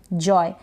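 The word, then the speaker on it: joy: जॉय का आनंद लेना तो जे है यहां पर जे का ज बन गया और य का यह ओ आय का य हो गया या य हो गया जॉय यहां पर है काउ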